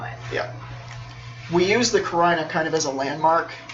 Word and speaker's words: carina: I forget how to pronounce it. It's cool, man. C-A-R-N-I-A? Carina.